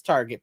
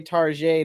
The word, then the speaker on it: Target: Target on the side people say Target to make it sound fancy it's Target people you're going to a glorified Walmart yeah well they got a better toy selection well no we have people here that seriously say Tarjay to make it sound like they're going to not a place that's like a Walmart I hear people say